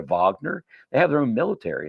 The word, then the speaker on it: Wagner: Did you know most of the profits that are made over in Africa go to a group called the Wagner Group, pronounced over the Vagner?